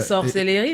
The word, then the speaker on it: sorcellerie: sorcellererie SOC cellerie so faut dire l'ENT l'accent de chez nous en fait c'est ça avec l'accent camerounais c'est sorcellerie mais nous on dit